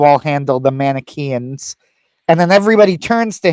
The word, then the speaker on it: Manichaeans: problem from the Manichaeans, I believe, if I'm pronouncing the Manichaeans. that right. Yeah, the Manichaeans, right. The Manichaeans.